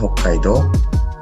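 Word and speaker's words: 北海道: Kemudian Hokkaido. Do-nya juga panjang.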